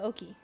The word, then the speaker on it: Oki: So, Oki.